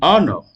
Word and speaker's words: honor: du son ha en Honor en Honor en Honor donc également l'absence du son h en E en he